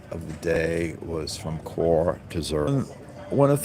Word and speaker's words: Chur: So we arrived in Chur, and I was calling it Chur. It's spelled Chur. It's Chur, Switzerland, and it's a very it's